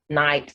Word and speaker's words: knight: silent in these words k is silent wait whenever it shows up in kn that's before n you have not knock knee new knight and need to knead